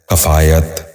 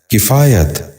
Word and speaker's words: کفایت: نشین کر لیجئے، کفارہ۔ 10واں لفظ ہے کفایت۔ یہ غلط تلفظ ہے، درست تلفظ ہے کفایت۔ دوبارہ سنیے، کفایت۔ بچوں آپ بھی غور